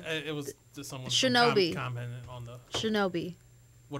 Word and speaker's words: Shinobi: It's pronounced Shinobi.